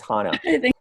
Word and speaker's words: Hannah: you haven't corrected me it's not Hannah it's Hannah okay no problem um Khalid